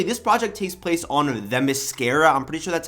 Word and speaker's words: Themyscira: Basically, this project takes place on Themyscira, I'm pretty sure that's how you say it,